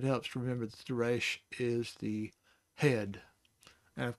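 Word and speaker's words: ריש: So it's A with a yod, A with a yod, and then the sh sound on the sheen makes it reish.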